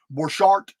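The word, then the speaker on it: Borchardt: pronounce these names guys b o r c h a r DT borchart it sounds it sounds F French or German to me but anyway Bart he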